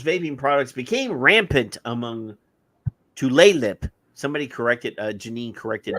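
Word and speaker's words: Tlingit: use of jewels vaping products became rampant among tle lip somebody corrected uh Janine corrected my pronunciation earlier among tle lip tribal youth with the uh percentage of 12th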